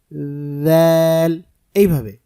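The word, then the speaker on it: ذال: করি এটার উচ্চারণ হবে জিহ্বার আগা সামনের উপরের দুই দাঁতের আগার সাথে লাগাতে হবে এবং জিহ্বার আগাটা সামান্য একটু বের করে দিতে হবে তাহলে যথাযথ উচ্চারণটা হবে জাল এইভাবে তারপরে যে হরফ এই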